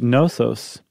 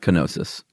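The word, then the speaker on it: Knossos: there's a temple at nosos I think that's how you say it right in the case Island yeah yeah it's not kenosis okay um that Temple is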